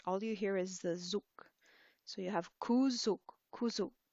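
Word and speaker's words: གཟུགས: So the ga in front is silent. Then you have a za, shabchu, zu, ga, sa, zuk. So you see the G at the beginning and the S at the end are both silent.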